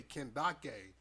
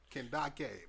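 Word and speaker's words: Kandake: the female King so it's spelled like Candace but just with case k-a-n-d-a-k-e can Dake but not a chance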